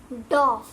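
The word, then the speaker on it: doff: सो the pronunciation for this particular word, let me tell, is डॉफ। डॉफ, DAHF। ठीक है, हम ऐसे आप ऐसे इसको बोलोगे तो आपको सही प्रोनाउंसिएशन आ जाएगी।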